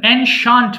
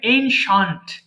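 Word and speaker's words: ancient: আচ্ছা একটু বলেন আমার সঙ্গে সবাই হ্যা একটু বলেন এনশান্ট পুরাতন এটাকে আমরা এনসিয়েন্ট বলি উচ্চারণ হবে এনশান্ট এনশান্ট পুরাতন এরপর বলেন টুমরো আগামীকাল ইয়েস্টারডে গতকাল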